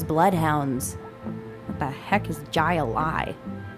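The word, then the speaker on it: jai alai: What the heck is Jai-Alai? It's pronounced highline.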